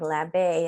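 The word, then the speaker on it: L'Abeye: 2019 she launched an e-commerce clothing company called la bay am i saying it right there yes yes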